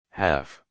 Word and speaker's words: half: L is silent in calm, talk, half.